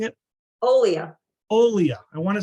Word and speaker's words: Olia: Massachusetts off the beaten path uh author Aaliyah um no I got that wrong uh uh uh we even practiced this how am I pronouncing it Olia Olia I want to say Alia that doesn't sound right so Olia Olia